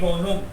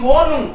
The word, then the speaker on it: Wohnung: das Heft, last, Die Wohnung. Die Wohnung. H is silent, right?